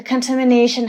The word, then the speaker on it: contamination: the word contamination the contamination has threatened the park and many of them animals in it the word contamination is stress in the fourth syllable which means as you've